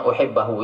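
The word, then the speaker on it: أُحِبَّهُ: Tapi enggak ya bacanya uhibbahu ya, jangan macam-macam ya.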